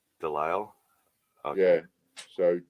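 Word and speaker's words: de Lisle: we go Daniel Del you don't pronounce the S Del okay yeah so D French Del delile Brock it's got a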